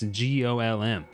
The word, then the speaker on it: GOLM: He asks to be referred to by the last bit, which is of course GOLM. Much to his surprise, this ends up being pronounced like Golem anyway.